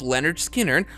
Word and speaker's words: Lynyrd Skynyrd: Leon Wilson they released their first album called pronounced Leonard Skinner with their most famous songs these include Tuesdays